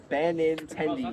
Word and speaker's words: Benintendi: Benintendi. Yeah, that's how you say his name.